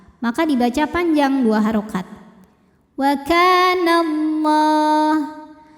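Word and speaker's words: والله: dibaca panjang dua harakat waallah lam pada lafaz Allah dibunyikan secara tafkhim sebab huruf sebelumnya berbaris fathah maka dibacanya tebal pangkal lidah dinaikkan u kemudian Alif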